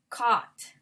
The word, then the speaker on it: caught: So some people think it's bo-u-j-t-t, but we say bought, caught, fought.